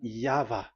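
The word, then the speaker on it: Yahweh: The original one is V, and there is no more explanation. But that is the phonemes, the pronunciation. Pronunciation is equal V. It is V. Y H V H. So it is YAHVAH.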